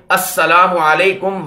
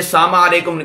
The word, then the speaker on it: السلام علیکم: بھی درست ہونا چاہیے۔ اس میں السلام علیکم ورحمۃ اللہ وبرکاتہ کہنا چاہیے، اس میں سامع علیکم نہیں کہنا چاہیے۔ اب سامع اس کا